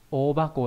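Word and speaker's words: 大箱: Và cái chữ hộp cũng không đọc là hako mà đọc là thành ba cổ nhá. Ô ba cổ là hộp to này,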